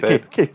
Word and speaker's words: kayfabe: K-Fob? How do you pronounce that? K-Fob? Is it Kayfabe? Kayfabe? Yeah.